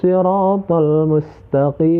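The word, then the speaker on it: الصِّرَاطَ: Huruf sha itu ketika kita membacanya itu kita harus agak monyong ya. Si ya. Jadi bacanya itu agak sedikit monyong.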